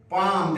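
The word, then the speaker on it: palm: bone हो गया कलाई पाम देखते हो जो हाथ दिखाते हैं किसी को तो जो हस्त रेखा विशेषक होता है उसको बोलते हैं पमिस्ट पी ए एल एम पाम L silent है पाम पढ़ते माने हथेली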